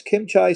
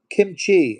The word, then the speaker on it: kimchi: It's Kim Chai, spelled kimchi. Oh, I'm saying it wrong. Kimchi.